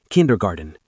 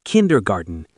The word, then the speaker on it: kindergarten: Su maestra acaba de pronunciar mal kindergarten. Se pronuncia kindergarten, ¿no? Kindergarten, dice Klaus.